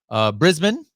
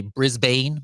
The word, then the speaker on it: Brisbane: We got Rosalind from Brisbane, I believe. I think Americans say Brisbane, but it's Brisbane.